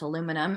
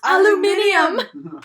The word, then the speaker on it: aluminium: And I think Hickey says he smells like burnt aluminum. And Duncan goes, it's pronounced aluminium.